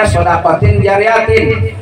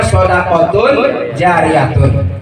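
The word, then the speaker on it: صدقة جارية: Jadi kalau jadi badal dari min salasin bacanya shadaqatin jariyatin. Tapi kalau mau jadi khobar dari mubtada yang dibuang bacanya shadaqatun jariyatun.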